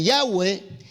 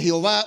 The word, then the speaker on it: Yahvé: ¿Y de dónde sale el nombre de Yahvé, de Jehová o de Yahweh? Cualquiera de las tres pronunciaciones, aunque yo creo que Yahvé es la más correcta.